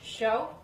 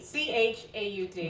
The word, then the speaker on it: chaud: Chaud, which means hot. It's spelled D. C-H-A-U-D. But I didn't know you don't pronounce that.